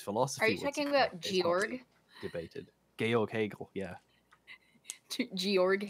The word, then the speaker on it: Georg: Are you talking about Georg? Debated. Georg Hegel, yeah. Georg Hegel. It's Georg. Georg. It's German. It's Georg.